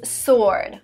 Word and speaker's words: sword: the next word is sword sword is a weapon a weapon which is written with a w but you don't pronounce this w sword being famous is